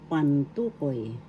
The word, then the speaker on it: pantukoy: Second syllable is the accent.